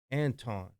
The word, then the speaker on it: Antoine: Is that how you pronounce his name? Yeah. Antoine.